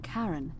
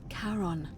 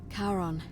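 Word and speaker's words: Charon: it's just as you described it only your pronunciation is a little off the name you heard wasn't Karen it was c h a r o n as in Caron the ferryman of the Dead karon who in exchange for the right coin helps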